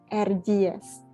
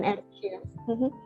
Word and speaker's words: Erciyes: Kita nyebutnya pakai J ya. Jadi C di situ bacanya J, Erciyes gitu. Bukan Erciyes. Erciyes.